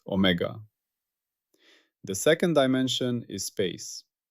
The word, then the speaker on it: omega: Its symbol is the Greek letter omega, pronounced omega.